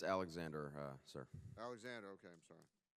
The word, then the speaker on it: Alexander: Alexandra, Deputy Director for the National Legislative Service of the Veterans of Foreign Wars. Did I pronounce that right? It's Alexander, sir.